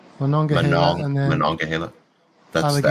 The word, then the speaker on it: Monongahela: As you say, I can't pronounce that river. What is it again? Monongahela. Monongahela.